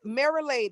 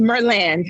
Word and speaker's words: Merland: So Marilade, is that how you pronounce it? Marilade, right? Is that correct? No, it's Merland.